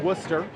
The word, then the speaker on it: Worcester: It's Worcester. Technically, it's spelled W-O-R-C-E-S-T-E-R. Full Worcester is when you hit 2 half Worcesters.